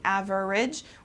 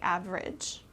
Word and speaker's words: average: Okay, so instead of pronouncing every syllable, we kind of put them together. Instead of saying average, we say average.